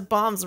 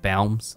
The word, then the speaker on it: balms: Now we can make those bombs balms. Right away. It's pronounced balms.